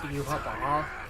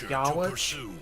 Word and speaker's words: Yhwach: I still think it's weird that his name is pronounced Yuabah cuz there's no B in his name anywhere. For context, when I read the manga, I pronounced it in my head as Yahweh, which made sense to me cuz I figured it was supposed to be like similar to Yahweh.